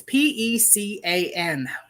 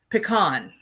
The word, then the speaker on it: pecan: what this word is p-e-c-a-n i call it pecan some people call it pecan there are all different ways to pronounce it it makes a very